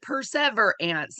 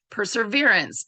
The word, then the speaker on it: perseverance: for them so I I have to say it in my head as per ants but that is not how you pronounce it yeah Angela so I'm all like persever ants and then I try to say it I'm like per perseverance so if I go